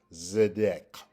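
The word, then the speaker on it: צדק: And they are pronounced again, starting with the one on the right, Zidquateca, and on the number 2 on the left, Zedek.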